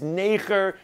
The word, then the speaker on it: neger: Now, zoen means kiss, and neger, it's not what you think. It's not like Americans say it. It is neger.